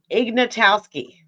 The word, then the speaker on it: Ignatowski: Ignatowski, right?